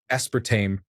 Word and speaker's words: aspartame: Aspartame. He's 48 and just within the last year realized it's not pronounced aspartame.